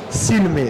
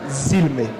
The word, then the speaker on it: silme: esse S de novo sempre som de s nunca som de z silme não zme isso isso também no